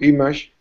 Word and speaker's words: image: I know it's spelled with an A, but we don't pronounce the A. The A for us is not stressed. When it's not stressed, it's pronounced image. Image.